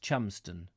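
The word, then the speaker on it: Cholmondeston: It is pronounced Chumston. Linda Kane says Chalmondeston is Chumston. Yes.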